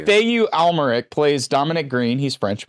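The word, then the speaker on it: Mathieu Amalric: you say his name Matthew is that the guy who play like a weird spelling of Matthew matu alarick plays Dominic green he's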